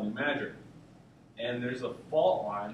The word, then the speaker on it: New Madrid: call it new MRI not New Madrid locals like you know they actually know how to say pronounce anything so it's called new mager and there's a fault